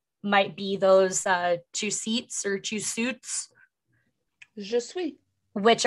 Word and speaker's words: Jesuit: It is pronounced Jesuit.